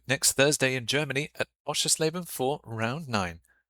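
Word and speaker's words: Oschersleben: We'll see you next Thursday in Germany at Osher Slaben for round nine. Asher Slaben. That's how you say it.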